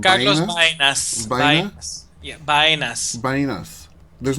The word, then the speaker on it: Baena: A little video created by Carlos, and I'm hoping I'm not mispronouncing his name. Carlos Baenas. Baenas. Baena?